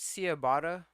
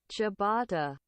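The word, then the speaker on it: ciabatta: oh he's actually right chabata okay he's like I call it cabata but that's called chabata all right he's correct my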